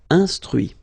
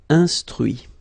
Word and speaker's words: instruit: Instruire, instruit. Okay, so you can notice that even if I put this final T, so as usual, I don't pronounce it. Okay, conduit, construit, cuit, détruit, instruit.